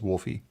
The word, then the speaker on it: Wolfi: That's actually a good question because there's not two O's there, but just pronounce it like there's two O's. Wolfie.